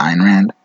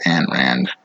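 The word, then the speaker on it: Ayn Rand: that's correct diane rand so he pronounces the iron rand i actually heard both the one i was introduced to was ann rand no wonder amy just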